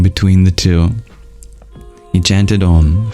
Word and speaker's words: Om: We begin with Om, which comprises 3 letters, A, U, and pronounced as a single sound, Om. A is pronounced with an open mouth, U with a half-closed mouth, and with a fully closed mouth.